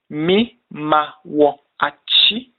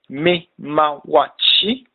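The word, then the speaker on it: Me maa wo akye: For good morning, we say me mao achi. Pronounced me ma wo achi. Me ma wachi. Or machi for a shorter form and the most commonly used.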